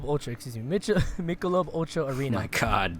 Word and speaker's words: Michelob: 2023 will be played in Las Vegas at Mitch lob Ultra Arena Michelob how do you say Michelob Ultra Michelob Michelob Ultra excuse you Mitchell Michelob Ultra Arena my god dude I don't